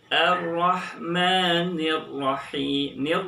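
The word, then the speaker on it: الرحمن الرحيم: Awas kita perhatikan ada ha. Tidak boleh tertukar pengucapannya dengan ha. Jadi harus bersih. Ar-Rahmanir Rahim.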